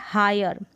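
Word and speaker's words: hire: अब यहाँ पर है हायर, हायर अर करके आ रहा है, आई आर का हल्का सा, हायर र का साउंड आ रहा है, यहाँ पर लिखा है, इस तरीके से प्रोनाउंस कर सकते हैं।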